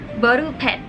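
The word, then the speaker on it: ボールペン: The second one is ball pen, or they say boru pen.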